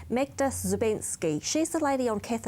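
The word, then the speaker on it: Magda Szubanski: Yeah, and there was an article written about, I always make sure I pronounce this correctly, Magda Zubensky.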